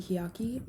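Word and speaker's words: Hiaki: just some general information they're called the yaki and you have the pronunciation written out for you there but they also call themselves the hiyaki meaning literally person or people in their language you'll find them in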